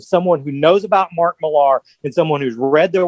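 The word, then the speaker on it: Millar: the the comic is a thing that like you know it comes from Mark Malar or Mark Miller is how you're supposed to pronounce it I think who you know is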